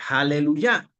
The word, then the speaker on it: aleluya: Y esta palabra se lee aleluya.